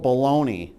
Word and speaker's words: Bologna: in a place called baloney. Yes. Baloney. Like how you spell it, like how you eat it.